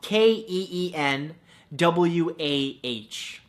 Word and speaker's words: quinoa: beautiful thing number two quinoa spelled K een wuah no that's not how it's spelt at all but it should right come